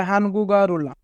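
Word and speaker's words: 한국어를: যদি বাচ্চিমের পরে ইয়ং থাকে তবে ইয়ং এর স্থানে বাচ্চিমটি যাবে, তাই গিয়ক বাচ্চিমটি ইয়ং এর স্থানে যাবে এবং উচ্চারণ হবে হানগুগারুল।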